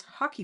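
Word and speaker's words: hake: um we all were required to have this hockey brush it's spelled h a k e uh and as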